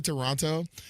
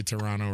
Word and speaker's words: Toronto: So it's like, I remember when I went to Toronto and I pronounced that last T, and I was hanging